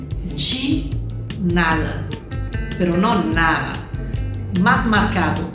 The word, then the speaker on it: de nada: pero la verdad que se escribe con una D y una E, pero se pronuncia así, de nada, pero no nada, más marcado, de nada, de nada.